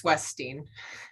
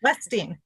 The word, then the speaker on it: Weststein: Am I pronouncing her last name correctly, Remy? It's Weststein. Weststein.